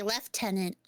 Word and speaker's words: lieutenant: And the British say left tenant, which is nuts. Why is there an F in it?